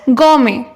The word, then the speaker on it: gourmet: इस वर्ड में T silent है, तो इसको भी हम वही कहेंगे। जो इंसान बहुत ज्यादा खाता हो इज ऑल्सो नोन एज गॉर्मे।